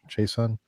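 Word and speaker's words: Chaisson: Chason.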